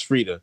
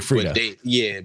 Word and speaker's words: Freedia: He's like It's Frida. Big Frida. But the eye is silent.